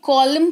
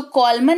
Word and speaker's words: column: फिर COLUMN, इसको कॉलमन नहीं पढ़ते हैं, कॉलम पढ़ते हैं। एन लगा हुआ है आखिर में और उसके ठीक पहले एम है, तो कॉलमन नहीं, इसको कॉलम पढ़ेंगे, यानी कि कतार।